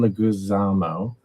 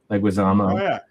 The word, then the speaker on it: Leguizamo: I have to look up his name to pronounce it correctly, but John Leguizamo, Leguizamo.